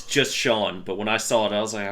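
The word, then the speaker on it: Schon: His name is spelled S-C-H-O-N. What's that name? Wait, What? spell it again? S-C-H-O-N. Sean? Damn it, yes. Shone. Oh, I just took a wild guess.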